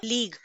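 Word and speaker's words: league: Okay, लीग, जी पहले आया यू बाद में आया, दोनों एक साथ यूज हुए। ठीक है, in this case also you जो है उसका प्रोनाउंसिएशन साइलेंट है, हम यू को प्रोनाउंस नहीं कर रहे।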